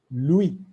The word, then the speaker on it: lui: il we will say lui which means him louis for l will say l so it remains